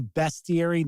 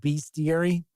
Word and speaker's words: bestiary: mad at me because I say bestiary not beastiary and they're like that's that's it's beastiary not bestiary it's like look at how the word is spelled it's like come on